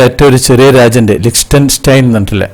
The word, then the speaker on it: Liechtenstein: ഒരു ചെറിയ രാജ്യം ഉണ്ട് ലിക്സ്റ്റൻസ്റ്റൈൻ തന്നിട്ടില്ലേ അതിന് വേറെയും ഒന്ന് രണ്ട് ഉച്ചാരണങ്ങൾ ഒക്കെ ഉണ്ട് ലിക്റ്റൻ സ്റ്റൈൻ എന്നാണ് അതിന് പറയാറുള്ളത് ഇപ്പൊ അങ്ങോട്ടേക്കാണ് ഇന്നത്തെ യാത്ര